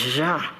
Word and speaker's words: Jean: His name must be pronounced Jean. In order to sound it right, you must glide it over your back teeth, then express it out of a half-open mouth.